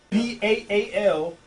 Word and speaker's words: Baal: B-A-A-L, or either it's spelled B-E-L.